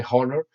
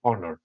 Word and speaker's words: honor: honor with honor okay you don't pronounce the age by the way you don't say horner no you say honor honor you don't pronounce it